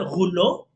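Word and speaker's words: rouleau: Se escribe roleau se interpreta, se lee, se pronuncia gulo, que proviene del francés que significa rollos.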